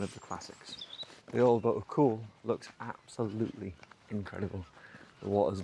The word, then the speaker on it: Caol: to call it cold i know it's spelt that way but it is pronounced cool if you didn't know